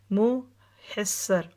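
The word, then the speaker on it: مُحَسِّر: بطن محصر یعنی محصر، بعض لوگ اس کو مخصر کہتے ہیں نا، تو صحیح پرونانسیشن دیکھ لیجئے، محصر، یہ وہ وادی ہے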